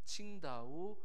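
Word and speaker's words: 青岛: 청도 그리고 청주를 다녀왔어요 중국 발음으로 하면 청 다 후 칭다오 싱 줘 라고 하는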